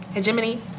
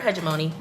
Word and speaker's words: hegemony: And hegemony, let me see how Google actually pronounces it. I was right. Hegemony. I've also heard hegemony. Oh, you can also say hegemony. I'm looking at the pronunciation breakdown.